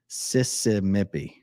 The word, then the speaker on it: Sissimipi: Bev's playlist from Sissimipi says, Sissimipi is a play on Mississippi. I kind of figured as much. So let me say it right. Sissy. It's so Mississippi is how you would normally do it. And this is Sissimipi. Sissa. No, it's Sissimipi. Sissimipi. That's how you say it.